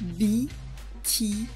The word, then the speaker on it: MBTI: MBTI à prononcer en anglais, car il s'agit du sigle de Myers-Briggs Type Indicator.